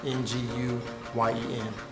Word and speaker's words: Nguyen: I'm always pronouncing that last name wrong, but it's Nguyen.